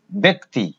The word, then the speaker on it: ব্যক্তি: যেমন ব্যক্তি, আমরা কিন্তু ব্যক্তি লিখবো না, আমরা লিখবো উচ্চারণ ব্যক্তি, ব্যক্তি।